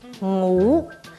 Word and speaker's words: 瓦: 片的瓦，上海话怎么念你知道吗？应该读母，注意它的声母是鼻音啊啊，所